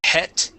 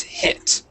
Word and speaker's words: hit: You had used a short E sound, saying hit. Okay, it's hit.